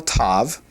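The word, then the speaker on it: ת: But this is called a tav. A to t sound. R with the dog. Sometimes uh it's a definite t with the doggation and a sort of a th without the doggation.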